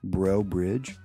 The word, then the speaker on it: Breaux Bridge: where she's from nevermind from Breaux Bridge b r e a u X like foe but bro bro bridge that's kind of where